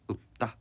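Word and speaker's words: 읊다: 우리 읍다 얘 같은 경우도 피읍이 남고 다시 음절의 끝소리 규칙 때문에 비읍이 돼서 읍다 이렇게 발음하고 있다는 걸 우리가 확인할 수 있었거든요.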